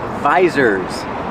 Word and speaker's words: visor: And these are called visors. Use the long I like ride and bike, visor.